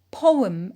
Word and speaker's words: poem: Poem is a noun. It is stressed on po.